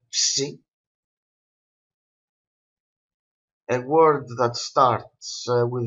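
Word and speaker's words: ψι: The letter psi is pronounced ps, ps, like maps, maybe.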